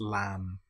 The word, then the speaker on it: lamb: It's just lamb or comb. The B is totally silent.